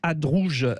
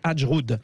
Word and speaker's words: Adjroud: Justement, nous en discutons avec Hadrouj, je vais bien le prononcer, Hadjroud. Voilà, c'est comme ça, porte-parole du PS.